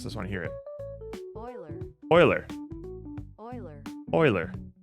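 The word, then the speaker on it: Euler: want to hear it Oiler Oiler Oiler Oiler yeah it's Oiler I think I think it's the the word is begging you to pronounce it as uler but Oiler Oiler okay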